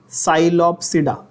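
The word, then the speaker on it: Psilopsida: साइलोप्सिडा, द पी is silent.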